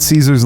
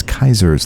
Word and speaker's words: Caesar: this he just said Caesar's Legion which is what I would call it but that's not how they pronounce it themselves that the Caesar's Legion